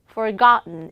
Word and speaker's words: forgotten: Manhattan, forgotten 이런 식으로 음발음 나는 이와 그리고 음발음 나는 대표적인 단어들을 정리해 보도록 하겠습니다. T하고 N 사이에 모음과 강세가 오면 은으로 발음돼요.